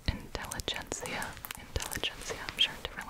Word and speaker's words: Intelligentsia: be honest with you okay i looked it up in english it's intelligentsia intelligence i'm sure in different languages this is a lot of crinkles here we go intelligentsia black cat direct trade